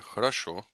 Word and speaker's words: хорошо: So this word, хорошо, is pronounced хорошо. So this O is pronounced as an A.